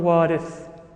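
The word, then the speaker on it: وارث: The ziyarah that's recited afterwards is ziyaratul warith. Right? not waritha. Waritha is feminine. And Imam Hussein, for whom the ziyarah is recited, was a man. So it's ziyaratul warith.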